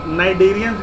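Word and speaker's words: Cnidarians: तो कैविटी, तो इसको हम नाइडेरियंस भी कहते हैं, सी साइलेंट होता है, इसको जब पढ़ते हैं तो सी भूल जाओ, ठीक है।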